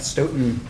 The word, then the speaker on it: Stoughton: Could you state your name and spell it for the record? My name is Stoton.